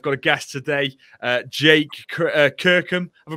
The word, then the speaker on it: Kirkham: I've got a guest today, Jake Kirkham. Have I pronounced your surname right, Jake?